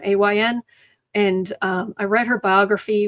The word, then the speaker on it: Ayn: And yes, apparently it is Ayn, even though it's spelled A-Y-N.